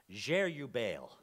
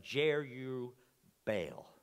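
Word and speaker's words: Jerubbaal: me lord but they give gideon a nickname jere you bale j e r u b b a a l if you can pronounce it better go for it but jere you baal and literally it means this let baal fight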